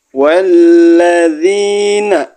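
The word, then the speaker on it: والذين: Walladzina walladzina, zi-nya dibaca panjang.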